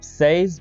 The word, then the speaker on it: says: इसको आप says भी कह सकते हैं और says भी कह सकते हैं, ठीक है। Who says यानी SEZ, इस तरह से इसकी प्रोनाउंसिएशन आप बनाएंगे, ठीक है।